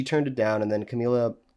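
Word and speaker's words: Camilla: Um but she turned it down and then Camila how do you pronounce that? Camila.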